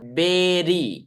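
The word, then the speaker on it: bury: आपको दिख रहा है स्पेलिंग क्या है बी यू आर वाई लेकिन इसको पढ़ते हैं हम लोग बेरी क्या पढ़ते हैं बे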